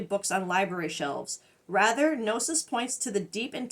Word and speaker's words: gnosis: I think it's pronounced gnosis. I'm pretty sure I'm not supposed to pronounce the G gnosis, but maybe. We used to say them that way with the G, gnosis.